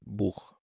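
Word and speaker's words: Buch: مثال على دوت مثلا كلمه كتاب يعني بوخ احنا شفنا او حرف اللي هو الاو اللي شبه اليو بالانجليزي بعدها تسيها فننطقها بوخ اوخ اوخ وعلى فكره برض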